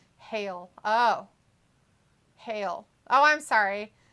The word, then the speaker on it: Hail: Thea last name is pronounced like the ice from a storm called Hail or Hail.